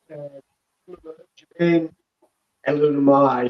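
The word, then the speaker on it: Jermaine Eluemunor: Jermaine Elunomai is how you pronounce it.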